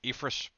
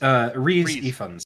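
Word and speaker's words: Rhys Ifans: and I know I'm gonna butcher his name, Ifris. How do you pronounce it, Ian? Lizard. I'm actually Dr. Connors. yeah, Dr. Connors. Ifris Rain? Ryan? Uh, I've never actually heard his name spoken. So Reese Reese. Ifans.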